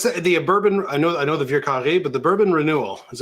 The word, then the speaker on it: Vieux Carré: Dave, how do you pronounce it, Dave? Vieux Carré. That's pretty nice. That's not bad. That's not bad. I would just say Vieux Carré.